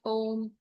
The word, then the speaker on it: Om: You chant Om breaking it into three syllables O m.